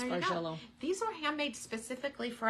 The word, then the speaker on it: Bargello: But it is pronounced Bargello.